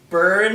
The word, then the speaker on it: Byrne: He was like at Byrne, and his big pause. It was like he wasn't sure how do you pronounce his name. But yeah, it's like B-U-R-N, like when you burn things, but it's B-Y-R-N-E.